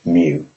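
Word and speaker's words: μ: it is denoted by the lowercase Greek letter pronounced mu to calculate the mean we simply add the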